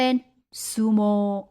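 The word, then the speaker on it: すもう: ตรง นี้ นะ คะ เอา อุ ไป เขียน แทน เขียน แทน ด้วย อุ เวลา อ่าน ออก เสียง นะ อ่าน ออก เสียง เป็น ซูโม ซูโม ซูโม่ นั่น เอง นะ คะ ซูโม่ ส่วน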